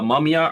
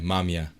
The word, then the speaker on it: Mamiya: How do you pronounce that? The camera brand? Oh, this is the Mamiya RB67. Okay, Mamiya.